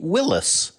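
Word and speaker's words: Willys: on the Willies Jeep nobody corrected their pronunciation while they were in the world but in the decades since many historians have said the name should be Willis because that's how John North Willis the man who founded Willis Overland the company that built more than 300,000 World War II Jeeps pronounced his name I love mysteries like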